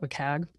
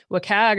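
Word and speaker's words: WCAG: trivia question but like how do you pronounce it I call it wag um so it was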